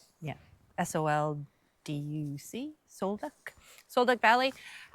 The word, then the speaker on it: Sol Duc: I think I pronounced that right. Yeah, SOLDUC, Sol Duc.